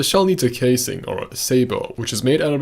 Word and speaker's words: sabot: So, I'm not alone in my pronunciation of Sabo. In fact, we can't say it's an American pronunciation because I pretty sure I heard some interesting accents in those examples.